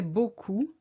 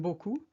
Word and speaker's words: beaucoup: So please either avoid using beaucoup or train to say it properly with a ou sound.